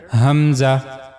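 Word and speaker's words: ء: is the letter Hamza The origin of this letter is the lowest part of the throat like the previous letter ha. So for pronouncing hamza you have to use the lower part of your throat. Hamza.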